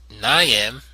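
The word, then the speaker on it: ñame: Their name pronounced naam is a foreign fruit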